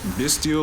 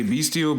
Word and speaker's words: Bystial: I'm more inclined to say Bystial, but I think a lot of people say Bystial, so I think that's probably how it's pronounced, like the word abyss.